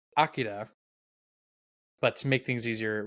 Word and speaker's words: Akira: should say anime film Akira or as I learned over the extra week we had to prep for this episode apparently it's actually pronounced Akida but to make things